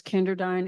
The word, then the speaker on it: Kenderdine: My last name is Kenderdine. It's never been pronounced right in my life, and I suspect you've had the same problem.